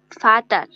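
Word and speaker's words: Vater: তারপর হচ্ছে ভি হচ্ছে ফাও, ফাটার, ফাটার, হ্যাঁ এটা তো ভি না, হ্যাঁ ফাটার যেহেতু হ্যাঁ ফাউ, ভি এর উচ্চারণ ফাউ, ফা হ্যাঁ টার, ফাটার। ইংলিশ হচ্ছে ফাদার।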